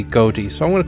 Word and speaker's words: Goetia: well like not ocean are pronounced this gota or goatee according to the readme file it's been anglicized to be goatee so I'm going to